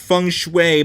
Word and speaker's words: feng shui: I'm sorry, I know it's pronounced feng shui, but it's not spelled feng shui, it's spelled feng shui.